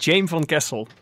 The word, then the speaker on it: Jaime Van Kessel: It is Jaime Van Kessel. Yeah, that's pretty Did I get close. it? Oh, Yeah, damn. Jaime Van Kessel.